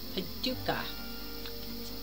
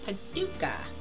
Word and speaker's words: Paducah: really really good and i put like five or six extra syllables in the name but it's paducah paducah kentucky so kaduka white this